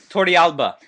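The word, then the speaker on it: Torrealba: um yit Tori well the correct correct pronunciation in espanol y Tori Alba but Tori Alba would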